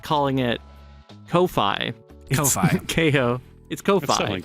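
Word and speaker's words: Ko-fi: I guess it's pronounced coffee but it could be Kofi I like calling it Kofi Kofi KO it's Kofi but it's supposed to kind of look like a coffee it's funny right Kofi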